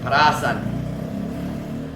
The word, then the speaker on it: parasan: Parasan, is that how you pronounce it? Or parasan? Parasan. Emphasize the second. Parasan.